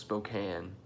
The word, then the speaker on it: Spokane: It's spelled Spokane, pronounced Spokane.